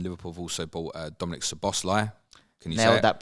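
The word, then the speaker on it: Szoboszlai: also bought uh Dominic's the bossler can you know that pronunciation as far as I'm aware just leave the Zeds out and it makes your life a lot easier he's a very talented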